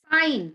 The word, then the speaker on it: sign: G is G and where does it go silent sign there's a sign board design I'm going to design my life and foreign consignment assignment yeah all these words G goes silent g go silence sign consign design foreign assign yeah light again